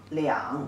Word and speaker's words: 两: This character, you see, two people inside, and it pronounced as le yi ang liang, the third tone.